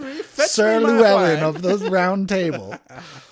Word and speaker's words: Llewellyn: Like Llewellyn. Llewellyn. It's like a medieval name. Llewellyn, come to me, fetch Sir me my Llewellyn wine.